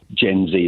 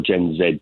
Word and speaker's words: Gen Z: the UK workfor is Gen Z or gen Zed depending on your pronunciation and that's going to